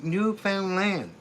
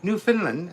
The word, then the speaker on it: Newfoundland: But most people used to pronouncing like Finland. So, they say, "New Finland, are you from New Finland?" No, Newfound Land. Newfound Land.